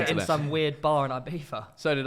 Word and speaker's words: Ibiza: some weird bar in Ibiza. So did I. Why do you pronounce like it's so horrible? Ibiza.